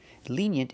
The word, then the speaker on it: lenient: Lenient is the opposite of strict. Pronunciation, lenient. The first vowel is a long E, like green beans. Lenient. We have the Y sound like yellow and yesterday. Yent.